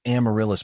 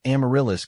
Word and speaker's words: amaryllis: I usually say it like Amaryllis, with the emphasis on the rill.